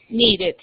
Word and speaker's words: needed: La E no se pronuncia. Solo se pronuncia la E y se convierte casi en una I, es cuando terminan en T y en D. El sonido, como en wanted, needed.